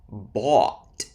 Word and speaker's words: bought: Bought, past tense of buy, and brought, past tense of bring.